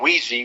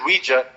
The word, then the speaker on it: Ouija: is not the word Ouija is a combination of the French and German words for yes M which is we and yah right we okay so the the wi because it's spelled Qi actually it's spelled o UI and then that's how you say we in in French and then yah in German is j a so Ouiji Ouija whatever